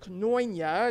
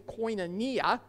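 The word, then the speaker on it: κοινωνία: Well, the secular understanding of fellowship, which comes from the Greek word koinonia, maybe you've heard it pronounced koinonia, it's actually koinonia.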